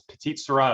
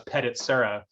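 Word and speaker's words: Petite Sirah: When back in the day, we used to pronounce Petite Syrah as Petit Syrah, and so we're getting there.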